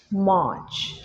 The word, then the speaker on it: March: Notice আমি আরটা silent রাখছি, মার্চ।